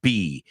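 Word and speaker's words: Bea: and that's funny because you say be but we pronounce that name be so her name is be Arthur and this is her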